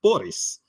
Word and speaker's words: BR17: binary to basic phonetic pronunciation is Boris.